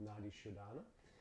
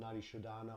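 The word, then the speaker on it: Nadi Shodhana: So there's various effects, various reasons we work with Nadi Shodana. It can be called Nadi Shodana or Nadi Shodan, depending again on the pronunciation of your Sanskrit.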